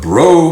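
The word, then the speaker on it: Breaux: at a Southwest Louisiana Farm the owners of bro Farms hey it's spelled like b r e a x you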